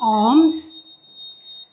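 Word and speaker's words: Aum: Before I go any further, we're going to do 3 arms. Arm is 3 letters A-U-M, and each letter is pronounced different.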